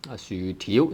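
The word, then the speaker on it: 薯條: 薯條薯 tone 6 條 tone 2.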